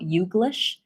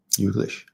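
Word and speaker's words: YouGlish: that I talked about yish it's basically combination of U and English so you're missing just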